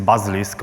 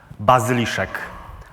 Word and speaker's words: Bazyliszek: to say this name in English this is bus risk but in Polish meaning does buzz Alicia I know that is very heavy walls but